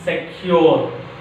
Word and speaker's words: secure: The fourth rule is some disyllabic verbs. Some disyllabic verbs express on which syllable? Second syllable. Some disyllabic verbs which express on a second syllable.